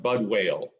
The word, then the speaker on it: Budwill: My name is Budwill, but it's pronounced Budwale.